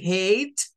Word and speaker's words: hate: entre pronunciar una palabra de una manera y pronunciarla de otra. En una vocal le aplica un sonido como A para decir hate.